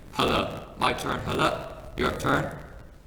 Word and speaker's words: challah: Okay, this word I'm going to say first, and then you're going to repeat after me so that you pronounce it correctly. Challah.